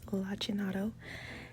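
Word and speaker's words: lacinato: and yes I had to look up the pronunciation because I was saying it wrong first but it's lachin and I bought that kale from Sprouts any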